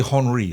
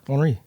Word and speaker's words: Henry: Henri. What do you say? See, now you say it right. What do you say? Henri. Henry. Yeah, Henri. As long as you don't say Henry, it's fine.